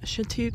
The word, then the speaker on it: Chatuge: really look like mountains anyways but this is chateague Lake well I know that's how it's pronounced the one funny thing about this spot